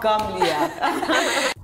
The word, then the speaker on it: Gamliel: We'll be right back with more of Gamliel. I said it right this Gamliel. Time. Oh, Gamliel.